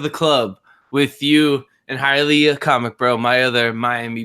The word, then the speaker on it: Hialeah: I think it's pronounced Hialeah. Hialeah.